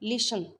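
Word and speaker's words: listen: अब देखिए लिसन, इसमें टी साइलेंट है।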